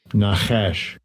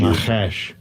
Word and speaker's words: Nachash: Well, let's pronounce the word. Watch. Strong's H5172. Nachash. Thank you. Nachash.